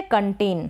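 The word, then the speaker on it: content: फिर ये है कंटेन। क्या है कंटेन? CON, कन। N को न और C को क पढ़ा जा रहा है। यहाँ पर O का जो उच्चारण अ हो रहा है।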